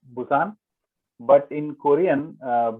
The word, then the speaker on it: Busan: call it Pusan National University because it was built maybe 80 years ago or something. So at that time Mm-hmm. it was P. Now the modern city of Busan is spelled with B.